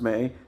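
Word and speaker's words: Mei: true M added that me uh pronounced uh or may pronounced May means plum in Chinese melenia M uh who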